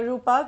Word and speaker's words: Rupak: loss of 335 apologies actually uh rupak I mispronounced your name as Rupal there apologies for that so